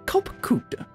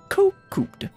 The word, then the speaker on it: Kopkud: As for nomenclature, to address my individual person, I believe it would be pronounced Kopkud. Yes, Kopkud. Kud.